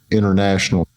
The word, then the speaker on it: international: Many times, the T in an unstressed syllable is silent after a syllable that ends with N.